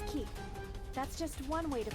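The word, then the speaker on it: 木: The kanji for tree can be pronounced as ki. That's just one way to pronounce it. Let's see if it works. I believe the other pronunciation is Moku.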